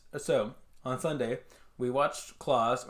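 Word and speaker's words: Klaus: on sunday we watched claus or class i don't know how it's pronounced i think it's claws it is an animated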